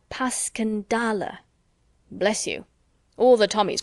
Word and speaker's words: Passchendaele: I may ask because that's the way I pronounce it to myself but I looked it up and it's more like Baskin dolla bless you all the Tommies call it Passchendaele just as they called ypres wipers how interesting you know mr.